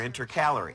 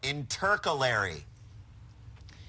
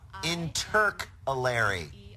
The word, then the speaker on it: intercalary: make up your mind is it intercalary or inter calorie well the second one makes more sense because